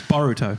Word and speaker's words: Boruto: clear you haven't cuz she just said it wrong boruto it's uh i' I've